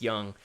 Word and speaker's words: Jung: It's Tom Young with a J. At least I think that's how it's pronounced instead of Jung. I think it's Young.